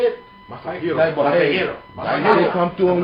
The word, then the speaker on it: Masahiro: Masahiro.